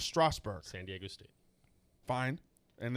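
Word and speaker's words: Strasburg: at all stroudsburg strasbourg there's no u in it bryce harper steven straussberg strasberg stevens straussberg it's not a strowl there's no you in it it's strasbourg san diego state fine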